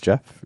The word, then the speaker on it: Geoff: Hi, my name is Geoff. It rhymes with breath.